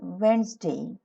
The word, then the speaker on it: Wednesday: but remember this is not witnessed in this pronunciation is Wednesday Thursday Friday next months of the year January